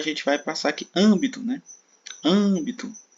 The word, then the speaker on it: âmbito: Agora a gente vai passar aqui âmbito, Âmbito. Âmbito também, a sílaba tônica está aqui na posição proparoxítona, tá?